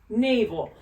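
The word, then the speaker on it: NAVL: write it for you it's n a v l so it's not spelled like Naval with an e but it is n a v l Naval now na n stands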